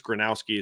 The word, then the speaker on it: Gronowski: I think it's Gronowski is how you say it, from South Dakota State,